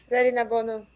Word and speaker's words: Zarinabonu: What's the correct pronunciation of it? Zarinabonu. Yeah. Zarinabonu.